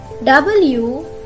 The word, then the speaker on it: water: R, O, following E or O, then the pronunciation will be silent. Let me show you the examples. W-A-T-E-R, water, water, not water, water, water.